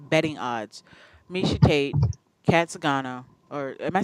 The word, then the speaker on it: Zingano: If anybody's got betting odds, Misha Tate, Kat Zingano, or am I saying it wrong? No, Zingano.